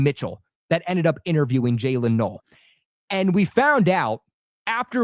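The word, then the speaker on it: Jaylin Noel: Okay, I want I I want to make this clear because I see a lot of people in the media pronouncing this poor guy's name wrong. Okay, it's Jaylen Null.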